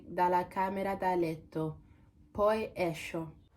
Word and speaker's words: esco: Poi esco. After checking online, I realized this word is pronounced esco, not esco.